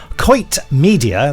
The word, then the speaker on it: Quoit Media: Coit Media, that's Quoit Media, but pronounced Coit. Coit Media Limited are publishing the brand new autobiography of Annette Andre, who played Jeannie in the series.